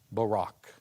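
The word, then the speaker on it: Buraq: Listen carefully to my pronunciation of the Arabic. Barak.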